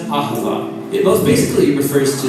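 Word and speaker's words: אהבה: most languages as it is a treatment it's pronounced acaba it most basically refers to the kind of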